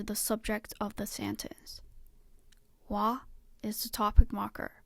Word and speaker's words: は: Wa is the topic marker. Because it acts as a particle, it is pronounced wa.